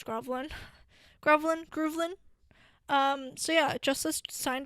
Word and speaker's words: Groovl1n: own label, which is Groovlin. Pretty sure that's how you pronounce it, GROOVL1N, which is why I'm pretty sure it's Groovlin.